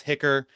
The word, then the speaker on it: HCHR: You may sometimes see the uh abbreviation HCHR which we pronounce hicker healthcare as a human right Washington can be a bit of a mouthful. Um, so you'll forgive me if occasionally I just say hicker.